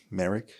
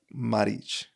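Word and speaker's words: Marić: So it's like Merrick, but it's more like Maric.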